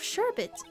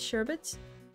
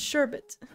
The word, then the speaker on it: sherbet: shrek pronunciation this is sherbet yeah sherbet okay cool it's so like such a confusing word because it looks like sorbet but it's not pronounced the same it's not sherbe it's sherbet yeah exactly wow these